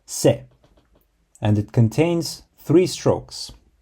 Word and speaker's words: せ: write ski to like the fourth character is pronounced SE and it contains three Strokes so you begin